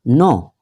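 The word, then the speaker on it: know: इसका प्रोनाउंसिएशन का ध्यान रखना, नो के साइलेंट रहता है।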